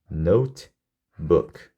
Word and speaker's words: notebook: 노트북은 이음절이에요. notebook. 이렇게. 개수는 4개지만 끝에 있는 이는 발음 안 되고요. 오가 2개 붙으면 우로 발음이 되죠. 그래서 얘는 이음절이에요. 이음절.